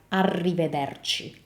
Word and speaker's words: arrivederci: of your mouth, whereas when you say the R in Italian, the tongue moves forward. So even the way you make the sound is different between English and Italian. So this in Italian would sound like arrivederci, arrivederci.